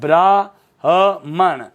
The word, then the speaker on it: ब्राह्मण: तो देखो दोस्तों, ये शब्द लिखा है ब्राह्मण। शब्द क्या है? ब्राह्मण है, ब्राह्मण, ब्राह्मण नहीं है। क्योंकि ब्राह्मण में देखो ब र आ की मात्रा ब्राह्मण, और ये है ब्राह्मण।